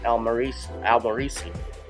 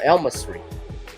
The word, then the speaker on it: Elmasri: earlier this afternoon that the man who was claiming to be Janet Jackson's manager by the name of Mo Elmarisi, I'm mispronouncing it, Mo Elmasri, said Jackson previously spoke based on misinformation about